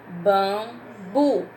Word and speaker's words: bambu: Bambu, não tem acento, mas é uma palavra oxítona. Olha a última sílaba forte. Bambu.